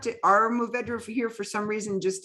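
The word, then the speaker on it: Mourvèdre: I see an R in there. It looks like it's Mourvedre, but every time you pronounce it, you say Mourvedre, so I'm gonna go with that. That's French. Okay, all right.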